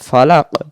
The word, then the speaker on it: فلق: উচ্চার ফালাক ফালাক ফালাক যদি আমি দমটা এভাবে বলি ফালাক ফালাক তাহলে এটা কফটা হবে না তখন কাফ হয়ে যাবে উচ্চারণটা ছেড়ে দেব ফালাক ফালাক মানে আরেকটা ভিতর থেকে জিহ্বার গোড়া থেকে একটু শব্দ হবে ফালাকুল আউজুবিল ফালাক এই